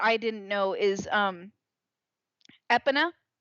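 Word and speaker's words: Epona: didn't know is um EPA as a kid I pronounced it aona I always pronounced it aona it's EPA I guess how do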